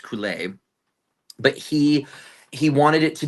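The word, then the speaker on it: Coulais: The music is incredible, and the lyrics are gibberish, and they're gibberish on purpose because the composer, Bruno, I believe his last name is pronounced Coulet.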